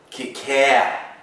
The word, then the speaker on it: cacao: but it sounds classier if you call it cacao, right?